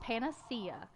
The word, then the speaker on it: panacea: up because I wanted to make sure I pronounce it right it's it's weird its panacea is its it gives a like 9k heal